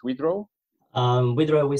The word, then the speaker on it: Widerøe: don't pronounce it correctly how it should be pronounce withraw um withraw we say Norwegian VRA but withraw is perfectly fine okay we'll we'll try you